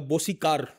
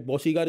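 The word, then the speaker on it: Bosicor: मैंने कहा आपने खरीदा क्या है, कहा बोसी कार मैंने खरीदा. तो मैंने कहा uncle I have to tell you that बोसी कार इज the wrong pronunciation, it's called बोसीकोर oil refinery.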